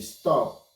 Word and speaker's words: stopped: is going to be stopped stop stopped here because of the pp is a voiceless sound so it will be pronounced as t stopped let's look at the